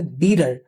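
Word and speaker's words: bitter: টি টা আছে না এই টিটা এখানে ডি এর মত উচ্চারণ হচ্ছে এটাকে আমেরিকান ইংলিশে বলে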